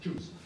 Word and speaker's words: Tchouzz: On s'est appelé Choose, c'est-à-dire T-C-H-O-U-Z-Z. Ça, on prononce Choose.